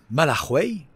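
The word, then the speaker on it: Malargüe: alors je vous disais je suis donc à malarway ça s'écrit malarg et c'est vraiment la ville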